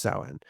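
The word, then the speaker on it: Samhain: from a festival called Saen, which is spelled Sam Hayne. It's spelled s a m h a i n, but it's pronounced sen.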